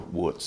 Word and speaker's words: wootz: unambiguous word to use is Wootz, or Wootz, it's sometimes pronounced that way, not Damascus.